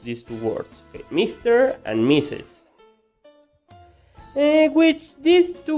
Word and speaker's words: Mr.: MR, yes, those are the letters. But when you see these two letters before the name of a man, it means señor, and you are going to pronounce it Mr.